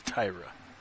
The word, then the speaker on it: Tyra: I've been calling her Tara Lucas for years, but it's Tyra.